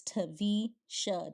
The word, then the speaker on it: Taversha: The R is silent. Both hands up. We're going to the middle. Again, I'll say it for you again. I know it's spelled Taversha, but my name is Taversha. Just take the R out.